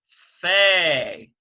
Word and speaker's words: fe: dog - hardens it without the dot it becomes Fei F E Y so how do we